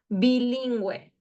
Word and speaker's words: bilingüe: And when it is with the G-U-E, with the diéresis, the two dots, you pronounce it as well, okay? Like the examples here, pingüino, bilingüe, okay?